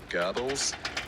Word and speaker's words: Goebbels: gonna screw it up it's spelt goggles but it's it's goebbels i know that's not the german pronunciation but it's the accepted english language pronunciation girdles anyway classic goebbels